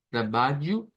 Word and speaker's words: trabalho: En ese caso, la LH se pronuncia como una, como una G, trabalho, trabalho, que es para decir yo trabajo nuevamente.